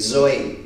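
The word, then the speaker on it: ζωή: Se pronuncia de esa forma, así, zoe.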